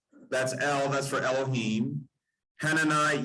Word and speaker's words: Hananiah: Hananiah, Yah, don't look at the I-A-H. Look, what if you spell that with a J, like in German? Yah, as in Yahweh.